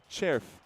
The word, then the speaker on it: Červ: Červ Červ, it's c r c e r v pronounced Červ.